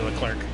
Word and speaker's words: Leclerc: how he pronounces it I mean I've been calling him Charlie Charles Leclerc but it's Charlotte Claire technically that's why it is but like I still say Leclerc if Farrar was a